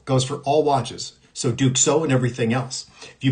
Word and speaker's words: Duxot: So, what we're going to do is we're going to go through some watches here that it's actually called Duko. Duxo T. That's how you pronounce it.